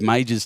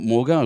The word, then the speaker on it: Major: of the teams, uh, Steve Major's team, that's how you say it, not Morgo.